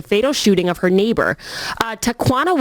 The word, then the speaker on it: Tawana: shooting of her neighbor Tawana Washington faces charges in Florida two quanta yes rhymes with marijuana it does doesn't say